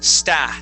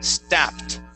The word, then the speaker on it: stepped: okay um okay on on the word stepped you would said sta stepped okay it is a short e sound St stepped try that